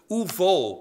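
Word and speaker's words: וּבָאוּ: And although the verb will come is plural, it's uvo, by the way, is how it'd be pronounced.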